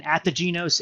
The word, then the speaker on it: Ategenos: Ategenos is the Gaelic word for rebirth.